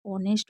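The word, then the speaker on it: honest: इसी तरीके से शुरू में कुछ वर्ड मीनिंग में एच साइलेंट रहता है। जैसे ऑनेस्ट हो गया।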